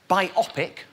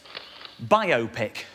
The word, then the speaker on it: biopic: but by show of hands who here says biopic and who here says biopic oh it's a pretty 50-50 split there that's